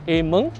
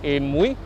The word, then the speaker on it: Amoy: They used to pronounce it as Ameng, or some of them would pronounce it as Amui.